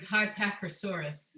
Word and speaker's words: Psittacosaurus: Can we pronounce this one? I'd go with Psittacosaurus. Nailed it. Crushing the game. Perfect pronunciation. Well done. So Psittacosaurus, for little size, it's between a horse and an elephant.